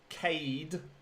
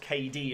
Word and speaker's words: Cade: Apparently it's Cade McCann, not KD as people pronounce it.